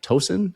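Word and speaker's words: Toña: Is it toen? Is that how we say it? Tona. T O N A. Tona. Tona. Something like that.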